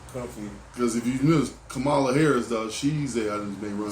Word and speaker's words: Kamala: run feel still don't it's Cala it's Kamala I said the last week you so anyway Cala you always say camela camela ha is that too the a is silent go but camea Harris